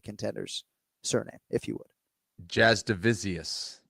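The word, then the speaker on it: Jasudavicius: But first name Jasmine like the princess, nickname jazz hands but last name is not spelled the way it sounds.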